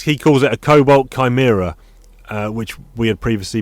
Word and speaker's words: Chimera: reasons for a Cobalt Chimera or Shimmer I don't know what your preferred pronunciation is there uh I would go Chimera I don't know but that's only because of mission impossible to yeah we'll say